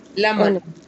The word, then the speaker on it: lemon: Lemon. Lemon. Okay, that's another one. Lemon. Two syllables. Stress on the first syllable. Lemon.